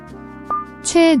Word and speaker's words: 최애: The AE in JUAE is a flat A sound. The chu is a diphthong, pronounced like we.